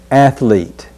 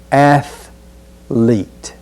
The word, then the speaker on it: athlete: at the word athlete be sure not to add a syllable or a vowel sound that's not there so we'll just say athlete be careful after a and not let a vowel sound creep in there athlete the next word